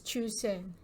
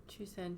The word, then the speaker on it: Chusan: It's called SS Chusan. Chusan. Do you know how to pronounce? How it's spelled? CHUSAN.